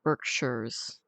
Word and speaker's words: Berkshires: Though that's pronounced Berkshires.